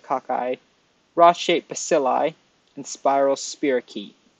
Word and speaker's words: cocci: So they can be spherical, like a ball, which is pronounced cocci or cossi or cocci, however you want to pronounce it. I like to pronounce it cocci.